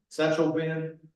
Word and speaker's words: Sachtleben: Satchel Ben, okay.